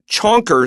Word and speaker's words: chonker: Chonker sounds like the word chunky, which is standard English.